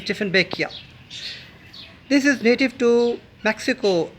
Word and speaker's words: Dieffenbachia: This plant is called the Dieffenbachia, sometimes incorrectly pronounced as Dieffenbachia, but the real pronunciation is Dieffenbachia.